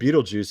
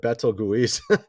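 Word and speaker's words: Betelgeuse: it was this uh star here it's called Beetlejuice I didn't know that's how you pronounce it though I was calling it Betto guise I didn't know how to pronounce I mean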